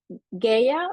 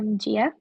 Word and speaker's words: Gia: Is it Gaia or Gaia? Gaea? No, it's Gia.